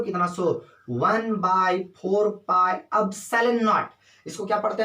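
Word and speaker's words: epsilon naught: 1/4 पाई एप्सिलॉन नॉट। इसको क्या पढ़ते हैं? प्रोनाउंसिएशन इसका क्या है? एप्सिलॉन नॉट।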